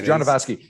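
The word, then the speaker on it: Jodorowsky: jordan ski or whatever how do you pronounce his name do you know genovaski yeah it's john devasky so amaze and there's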